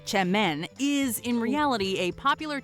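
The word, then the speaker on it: Çemen: Spelled with a C, semen, pronounced chemen, is in reality a popular type of dip or spread that hails from Turkey.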